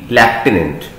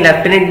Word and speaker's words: lieutenant: LIEUTENANT, लेफ्टिनेंट। ठीक है, तो इसमें लेफ्टिनेंट में एफ नहीं आएगा, सिर्फ आपने ये LIEUTENANT लेफ्टिनेंट।